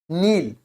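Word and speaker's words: kneel: एन लिखा है तो इसको क्या बोलेंगे नील नील नील down in front of मी नील down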